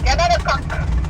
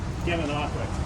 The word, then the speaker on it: Gananoque: Gananoque.